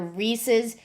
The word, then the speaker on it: Reese: something eats anyway they're Reese's Pieces and they named it that because Reese rhymes with peace what's a what's a